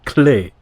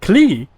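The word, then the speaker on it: Klee: german-inspired oh right and in german a character named clee you would pronounce it clay ah that's correct and geister is german but pronounces it clee geister is also thinking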